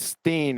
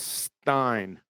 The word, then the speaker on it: Stein: It's not Steen, it's Stein. Alex Stein. And Whitsit pointed out that to you because one of his rebuttals to him being charged a liar was that it's Stein, Nathan. Stein like pigsty.